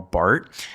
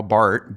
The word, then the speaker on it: Barth: If Martin Luther King is the most famous theologian uh of the 20th century in America, Karl Barth B A R T H uh though the H is silent, is kind of his counterpart in Europe.